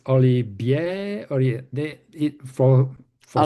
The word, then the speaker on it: Olivier: Uh, the other one, the most common, is just to skip the high and say Oliver. Hmm. And some of them, succeeded in saying Olivier.